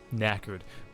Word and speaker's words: knackered: just want to crash knackered spelt with a k i believe silent k because you know good old english absolutely knackered died